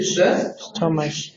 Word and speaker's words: stomach: Stomach. Is the look it. CH is the writing sometimes, but the pronunciation is k.